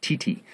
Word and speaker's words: titi: facial paint, and above all, tattoos, which they pronounce Titi, T-I-T-I.